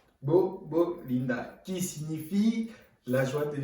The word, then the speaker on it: Gbogbolinda: mot fétiche, ce terme-là, qui se dit Gbogbo-Linda. Bon, ça va pas être facile à dire pour certains, mais avec de l'entraînement, on finit par s'y faire. Gbogbo-Linda. Vous décomposez les syllabes. Gbogbo-Linda, qui signifie la joie